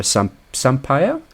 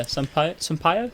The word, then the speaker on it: Sampaio: She's going to be played by Sarah Sampaio. I believe you say her name. Right. Yeah, Sampaio. Yeah, Sampaio. That sounds about right.